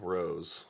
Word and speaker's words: Rohs: it'll come up uh my last name is spelled r-o-h-s it's weird you're like lemon balm Rose yeah absolutely right on